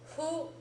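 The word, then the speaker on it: ふ: f that is who notice that it is halfway between an f and an H sound okay it's like you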